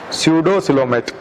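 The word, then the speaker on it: pseudocoelomate: और आगे जो एनिमल है निमेटो हेलमिंथेज वो है स्यूडोसिलोमेट, नकली सिलोम होती है एक तरह की, स्यूडोसिलोमेट। पी से शुरू होगा, PSEUDO, पी साइलेंट होगा, और सिलोमेट COELOMAT, सिलोमेट, स्यूडोसिलोमेट।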